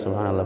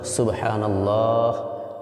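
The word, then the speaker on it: سبحان الله: যাচ্ছে তাসবিগুলি শুদ্ধ উচ্চারণ সুবহানাল্লাহ সুবহানাল্লাহ হাটা ভিতর থেকে হা লম্বা এরপরে যেটা আমি বলতে চাচ্ছি সেটা হচ্ছে সুবহানাল্লাহ বলার পরে শেষে হা উচ্চারণটা সঠিক হতে সুবহানাল্লাহ শেষে হায়ের উচ্চারণ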